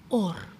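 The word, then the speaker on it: עור: La palabra para piel se pronuncia or. Or. Igual que luz, or.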